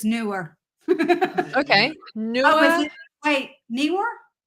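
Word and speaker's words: Neewer: me and said it's newer okay wait Neymar is it knee like your knee like your kneecaps or is it new like opposite of old like a new purchase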